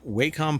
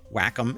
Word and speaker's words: Wacom: Um but uh it says here Waycom partners with Blender to enhance pen and touch tools for 3D creation across platforms. Whackom is what it's actually pronounced.